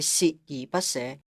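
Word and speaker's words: 鍥而不捨: 言歸正傳，正確讀音係鍥而不捨。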